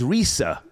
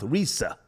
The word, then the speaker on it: Rizza: go through the quick the correct pronunciation is Risa he he says out of his own mouth Risa go ahead Visa Islam